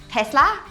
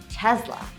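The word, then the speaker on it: Tesla: Is it Test-lah? According to Elon Musk you actually have to switch the S with a slight z, so Tez-la!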